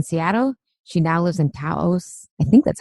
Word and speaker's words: Taos: After having spent the large majority of her life in Seattle, she now lives in Taos, I think that's how you pronounce it, New Mexico.